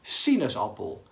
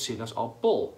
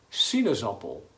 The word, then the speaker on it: sinaasappel: En de klemtoon, het stukje wat opvalt in het woord, is op si. Want je zegt sinaasappel. Niet bijvoorbeeld sinaasappel. Nee, sinaasappel. Dus sinaasappel.